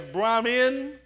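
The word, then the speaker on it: Brahmin: cast you have your brammen now emphasize Min i n Bram men for there's Brahman and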